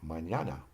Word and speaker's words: mañana: Now, the N with a tilde is pronounced differently than the simple N. An example is mañana.